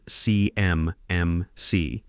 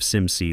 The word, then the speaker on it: CMMC: She says it C MC, spelling it out letter by letter like she's reading from Qards instead of SIMC like anyone who's actually worked with federal compliance would say.